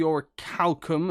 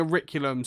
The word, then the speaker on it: orichalcum: a Rick ulam yeah I believe it should be orichalcum as it's spelt like this but they keep saying auricular them so I found that